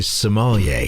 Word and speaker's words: sommelier: So you are a sommelier.